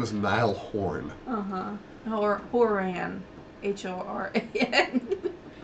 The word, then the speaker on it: Horan: NY horn uhhuh Horan h o r a n you said horn Horan Horan n horen horen it's spelled